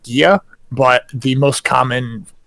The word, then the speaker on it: Gaea: There actually is an alternative spelling of Gaia, which is Gaea, which many people would pronounce as Gaia, which is incorrect. It would actually be pronounced Gia, but the most common pronunciation that I've heard, Oh, the Carmen Gia.